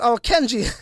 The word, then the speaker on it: Kenji: Kenny says, my name is pronounced, Kenji. Sorry, Kenji.